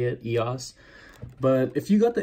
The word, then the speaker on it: EOS: Just recently learned that that's how you say it, EOS.